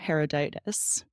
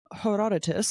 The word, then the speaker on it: Herodotus: in the fth century BC by a philosopher herodias again I'm just like butchering all these names I don't know how to say Herodotus yeah thank you Herodotus in the fifth century BC Greece he described